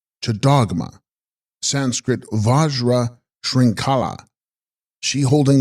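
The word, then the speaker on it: Lcags-sgrog-ma: Text Gags Grogma, pronounced Chadogma, Sanskrit Vajra Shrinkala, she holding the chain, the Shakti of Hayagriva.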